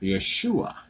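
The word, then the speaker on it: ישוע: And as you recall, in Hebrew, Joshua is pronounced Yeshua.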